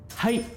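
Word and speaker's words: はい: Nó là chữ ha và chữ y ghép lại nó sẽ thành là hay. Hay.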